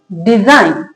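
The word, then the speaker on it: design: Next क्या लिखा है, DISIGN, डिजाइन। क्या लिखेंगे, डिजाइन। जी का साउंड नहीं आएगा, जी साइलेंट है।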